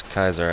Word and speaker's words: Caesar: ] they can't pronounce Caesar well it is Kaiser actually now I think